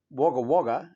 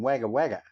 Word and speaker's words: Wagga Wagga: It's like Wagga Wagga and Wagga Wagga. You say Wagga Wagga, but it's pronounced Wagga Wagga.